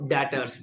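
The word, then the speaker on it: debtors: stock and number four डेटर्स डेप्टर नहीं डिसाइलेंट है डेटर्स याद रहेगा फिक्स्ड एसेट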